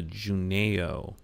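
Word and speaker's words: junaio: I've come across recently is something called the Juno augmented reality browser and it's free that's spelled j u n a i o and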